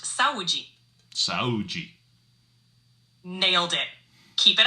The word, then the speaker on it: Saúde: Saúde, meaning health or cheers. Remember, it's pronounced saúde.